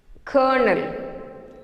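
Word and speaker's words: colonel: C-O-L-O-N-E-L, there is no correlation between this word and the pronunciation. Kernel. C-O-L-O-N-E-L, kernel. Kernel or kernel.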